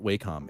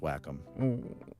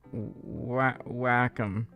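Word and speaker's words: Wacom: Whackom. Okay. Um, that's how you actually pronounce it. It's not Waycom. It's actually pronounced Whackom. Whackom.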